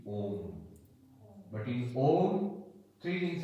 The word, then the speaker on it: Om: So in Sanskrit grammar, A plus U becomes O. So the pronunciation will not be Aum, it will be Om.